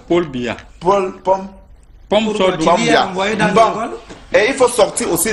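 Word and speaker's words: Paul Biya: Non, il faut bien prononcer son nom. Pombia, c'est quoi? On dit que quoi? Ce n'est pas Pombia. C'est Paul Bia.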